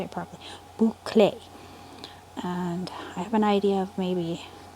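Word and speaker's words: bouclé: I think I'm going to have to add it to my bouquet one. Bouquet? Boucle. Yeah. My mom's been trying to teach me how to say it properly. Boucle.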